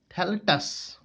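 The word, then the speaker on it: phthalates: Prolonged use of plastic increase the amount of thalatus, pH is silent, so that is thalatus in blood.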